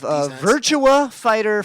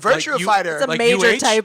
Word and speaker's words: Virtua Fighter: where i will be doing my review of virtua fighter 5. i said it wrong on uh on the internet today i'm doing this today uh to review a game virtua fighter uh and virtual fighter virtue uh now i know you said like